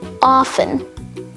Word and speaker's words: often: mortgage nestle often soften rapport rustle scratch thistle watch whistle witch and finally wrestle all of these words have the silent letter t in them and finally let's